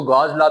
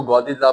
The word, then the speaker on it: Gauss's law: कुछ लोग इसको गॉस लॉ भी पढ़ाते हैं, आप लोगों ने इसको गॉसिस लॉ प्रोनाउंस करना है।